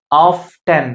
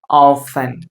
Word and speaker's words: often: இது don't pronounce this word as often. often அப்படின்னு சொல்லாதீங்க. ஸோ இந்த இடத்துல டி பாத்தீங்க அப்படின்னா silent. Okay, so you should pronounce this word often. Okay, often சொல்லுங்க என் பின்னாடி. often.